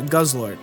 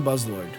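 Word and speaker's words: Guzzlord: Uh, and that's, yeah, Guz Lord. I keep saying Buzz Lord. Buzz, they're just Their names are too close to each other. They're both two syllables.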